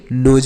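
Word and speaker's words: nose: मतलब नाक होता है इसे नोस नहीं नोज पढ़ेंगे नेक्स्ट है एल आई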